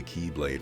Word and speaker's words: X-Blade: have a Keyblade, but the second Keyblade is actually the X-Blade, but you just pronounce it as the Keyblade for some reason, and